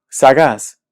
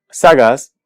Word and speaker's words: sagaz: Sagaz. Sagaz es una palabra que termina en Z. Y si escuchamos esta palabra, sabemos que la sílaba tónica es la última, es decir, es aguda.